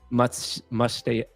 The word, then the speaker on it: MustaYaki: Follow me, follow Final Bosu, and follow, which is actually pronounced MustaYaki.